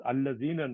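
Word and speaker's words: الذين: This is Allazina, not Dina. Ismu Masul.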